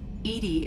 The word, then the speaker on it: EDI: is a jar why are you named Edie Edie is the is the pronunciation of EDI that is an acronym for